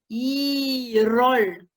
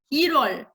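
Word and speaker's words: 일월: Comme à cause de la liaison, on prononce 1월, 1월.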